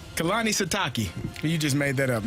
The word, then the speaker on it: Kalani Sitake: Is it Kalani Sitke? How the hell do you say his name? Kalani Sitake. Kalani Sitake.